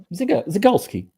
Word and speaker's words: Zygalski: And So yeah, maybe we can also talk about Ziga more, or how do you pronounce it? It's Ziga? Zygalski.